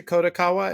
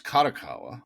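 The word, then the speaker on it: Kadokawa: At some point, Yin Press itself goes from being owned by Hashet to being sold to Kotakawa. Am I getting that right? Uh, it's Kadakawa. Kadakawa, excuse me.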